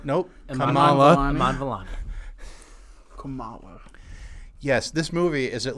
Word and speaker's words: Kamala: then I like the girl that plays uh Kamala nope Kamala yes this movie is at least 50% responsible for why I cannot pronounce the current presidential candidates name correctly the